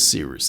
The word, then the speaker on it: Cyrus: My name is Seeroost. It's spelled like Cyrus, pronounced like Sea Rooster, just take a letter.